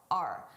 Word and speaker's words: our: I did not pronounce this as our. I said R. A very reduced sound, R.